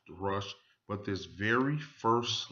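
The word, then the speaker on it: ראש: Hebrew word here it's it's translated from you pronounce this Hebrew world rush now not only is this Hebrew word pronounced to rush but this very first letter in this Hebrew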